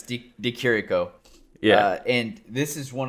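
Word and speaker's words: Di Chirico: uh buckley versus dakirico my bad i was pronouncing it the cheroko before yeah but it's d d kiriko yeah and this is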